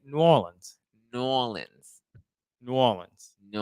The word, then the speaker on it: New Orleans: favorite bar in nolens is that you say it nollins no we do not say it like that how do you can tell when people are not from there we say New Orleans New Orleans New Orleans